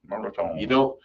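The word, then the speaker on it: mirliton: David, do you pronounce the R in Merleton? Merleton. You start to pronounce the N and then you retreat, just like the French do.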